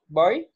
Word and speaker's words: buy: I didn't buy. Se dice como cuando yo digo chao, ¿cómo bye. Es? Bye. Eso. Son los sonidos homófonos. Son palabras en inglés que suenan igual, se pronuncian igual, pero son cosas distintas, significan y se escriben distinto.